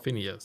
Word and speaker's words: Phineas: pertaining to the whereabouts of Phineas B well Phineas that's how you say it if the words